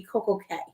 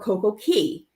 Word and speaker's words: CocoCay: controversial one would be Coco k or CoCo Key and so and it's pronounced both ways and I do believe